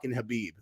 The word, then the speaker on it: Khabib: then but I know I always say kabib and people like his name's khabib and so I was